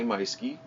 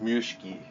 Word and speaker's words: Meuschke: That is spelled Meuschke. I know, it looks like Mushki or Mioski, or I've heard tons of, all through high school I was Maduski. I don't have a D in my name either. However, Maduski stuck, and that was my nickname throughout high school. Anyway, but Meiske is my last name, and that is the correct spelling, Meuschke.